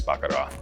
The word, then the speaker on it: Baccarat: Now notice I didn't pronounce the T, because my wife, she is French, and says you don't pronounce the T, honey. So it's not Baccarat, it's Baccarat.